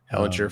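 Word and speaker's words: Ehlinger: world beater but starting they're starting their Sam Ellinger how do you say his last name yeah hellinger from Texas I want to hear Steve on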